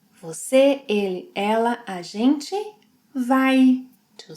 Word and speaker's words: vai: Você, ele, ela, a gente, vai, two sounds, vai, vai.